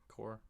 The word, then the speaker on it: Corps: Is it Corps? Green Lantern Corps? It's just like Marine Corps.